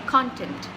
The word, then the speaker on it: content: word which is basically content so when I say content I'm stressing on the first part of the word which is